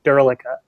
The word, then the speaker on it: Derlica: how it was originally pronounced is beyond me, but now the Americanized pronunciation is Derlica. So it's Derlica. Derlica. It was probably Czech and probably originated with a